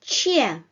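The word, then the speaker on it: ч: so right then the next letter is cheer cheer cheer you touch uh the hard palate and produce this CH sound no need to protrude your tongue too much backwards like sure no uh in Russian you simply need you simply have to touch the the hard palettes in the upper parts of your mouth near your upper teeth like touch the elbow Zone and you get the correct Russian CH variation right then uh the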